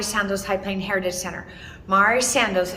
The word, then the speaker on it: Mari Sandoz: High Plain Heritage Center Mari Sandoz and that's how you really pronounce it was an author set